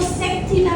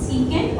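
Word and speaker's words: secant: कॉस की जो reverse है वो है सेक, इसको सीकेंट ही बोलते हैं क्योंकि ये शॉर्टकट है सीकेंट थीटा का, तो इसको सेक थीटा नहीं बोला जाता, सीकेंट थीटा ही बोला जाता है, ओके।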